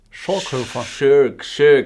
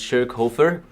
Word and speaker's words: Schoerghofer: looking watching and reviewing a film by stefan shaw crawford shirk i think it's pronounced shirk hoefer or hofer yeah hover sorry stefan if he pronounced your name wrong